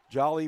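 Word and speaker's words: Jaalijali: at that magic number spells his first name j a-a-l-i-j-a-l-i yep and it is pronounced jolly yep all right who are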